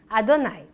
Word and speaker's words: Adonai: No começo de Êxodo Chemot, Deus revela seu nome, o tetragrama, que pela tradição judaica é pronunciado como Adonai.